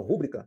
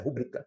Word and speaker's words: rubrica: Então se eu falo rúbrica, então eu deveria colocar um acento no U, mas a pronúncia é rúbrica.